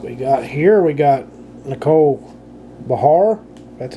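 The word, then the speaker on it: Nicole Behar: We got Nicole Bahar. That's how you pronounce that.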